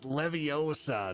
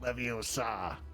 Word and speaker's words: Leviosa: So if someone Remember, can't speak, it's Leviosa, not Leviosa.